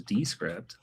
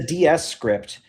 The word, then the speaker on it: Descript: So Descript is wrong. This is Descript.